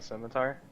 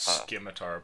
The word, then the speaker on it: scimitar: and pick up the cemetery sure it's pronounced scimitar by the way get my tired are